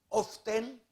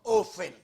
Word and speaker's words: often: Duha di ay kapagi ang pag-pronounce, meaning often or often. Kung imong is-silent ang T, mahimo ka ng often, sama sa soften, fasten, o listen.